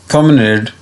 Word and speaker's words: promenade: तो यहाँ पे दो प्रोनाउंसिएशन लिखे हुए हैं, देखें। ये जो है ये है प्रोमेनेड, और ये जो है ये अमेरिकन है, ठीक है, प्रोमेनेड भी इसे प्रोनाउंस करते हैं। और ये है प्रोमनाड, ये देखें वही ऊपर और नीचे दो डॉट्स हैं ना।